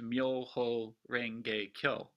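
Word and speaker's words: 妙法蓮華経: miaow lien hua jing and in japan it's pronounced myoho renge kyo and added to that to the front of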